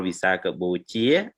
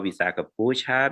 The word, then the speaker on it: Visakha Puja: And it is different by the country by pronunciation. Like in Cambodia, we call Visakha Bochia because our pronunciation, our term of Pali word utterance is different from other. Thailand, we call Visakha Puja because they don't have alphabet like J.